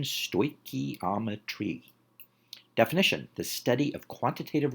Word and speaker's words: stoichiometry: Phonetic pronunciation, stoichiometry.